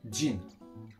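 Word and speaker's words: 人: On reprend le mot du pays, donc Fulanzu, et on va rajouter jin. J-I-N en romaji, voilà, ça se prononce Jin, et on le rajoute à la fin.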